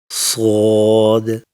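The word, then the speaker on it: ص: Now the next two letters, Sod and Lod. Sod is a thick and heavy letter. To pronounce it, lift the back of your tongue slightly up and make a deep, thick whistling sound.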